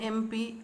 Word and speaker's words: MP: Okay, since abbreviations like MP, MBA begin with a vowel sound, we use an before them. What we use? We use an before them. Example, an MP, an NCC officer, etc.